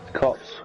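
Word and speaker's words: Copse: She spun it a corpse. I think it's corpse, isn't it? Yeah, it's corpse. Cops.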